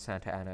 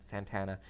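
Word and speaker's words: Santa Anna: him and Santana as is pronounced not Santa Ana is pronounced Santana he's the dictator of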